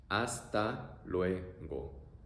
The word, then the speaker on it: hasta luego: Next phrase, hasta luego. See you later or goodbye. It's very simple. You can use it anytime that you say goodbye to somebody. Pronunciation, a-a-ue-o. A-a-ue-o. Hasta luego. Hasta luego.